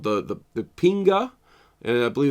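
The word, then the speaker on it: kpinga: called the the the pinga I believe it's how it's pronounced although it has like a silent k in it um really weird weapon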